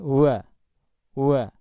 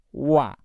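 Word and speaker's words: و: adalah Hai jangan sampai mengucapnya itu medok atau terlalu berat ya umpamanya seperti ini hua hua Wu hui hui itu terlalu medok dan akhirnya ada unsur udara yang keluar meskipun itu sedikit ya sedangkan pengucapan yang benar itu adalah ringan ya wah Wui bau lah begitu Jadi mirip dengan pengucapan huruf w dalam bahasa Indonesia tapi yang ringan Ya seperti kata wacana ya wawasan begitu wawancara dan seterusnya ya sedangkan dari segi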